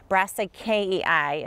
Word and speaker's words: Brassicaceae: Brassicaceae is how you say it if you speak Latin.